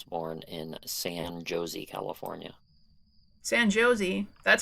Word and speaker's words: San Jose: San Jose? That's how you pronounce that one for sure.